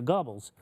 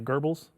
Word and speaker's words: Goebbels: I think you meant to say Goebbels. Goebbels, Goebbels, like gerbils. He says Goebbels like gerbils. Yeah, He there did is say it really weird. Goebbels. There is the both. I've seen both pronunciations.